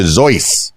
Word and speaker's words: Seuss: he eventually stuck with Seuss his mother's maiden name and his own middle name albeit one that was originally pronounced something closer to zoy nice uh the doctor